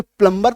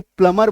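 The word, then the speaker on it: plumber: हिचक आती है कि अचानक से प्लंबर तो बचपन से बोलते आए हैं अब अचानक से प्लमर बोलना है या प्लम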